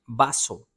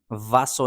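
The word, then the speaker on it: vaso: बासो, वासो नहीं है, यह है बासो।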